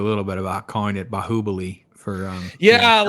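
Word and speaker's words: Baahubali: forgot to ask my wife like how to pronounce it. So I just went along with it. But yeah, It's like Brahabali, dude.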